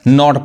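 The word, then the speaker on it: knot: Silent है, नहीं पढ़ाएगा, नॉट पढ़ाएगा।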